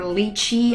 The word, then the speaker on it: lychee: sweet it's this yeah it's light Qi or lychee I just occurred to different pronunciation of this English name but in Chinese is